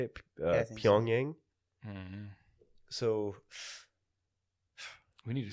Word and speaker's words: Pyongyang: only place that has lights is was it Pyongyang is the capital city? I don't know. Is that how you say it? I think so. Pyongyang.